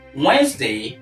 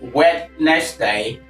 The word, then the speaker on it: Wednesday: yet so nobody's wedding there is no wed in the word Wednesday or Wednesday now if you look at that if by mispronouncing this word as wed next day W next day you have three cabus but of course the number of cabus that we appropriately have in this word is two there are two SB